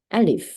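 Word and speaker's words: ا: 알리프인데 발음은 좀 달라요. 발음은 네, 발음은 발음은 우리나라 말로 치시면 이제 아, 네, 이거는 부호가 이제 파트하라고 위에 이렇게 빗금이 쳐져 있는 게 있거든요. 이게 붙어있을 경우는 아가 됩니다. 영어로 치시면은 A라고 생각하시면 되고요.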